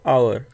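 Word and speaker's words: hour: बात आ रही है आवर तो एच यहां पे साइलेंट है तो वहां पे एन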